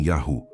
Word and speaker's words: Yahu: Yahuatan contém Yahu. Nunca Yahu éé ou Yahua.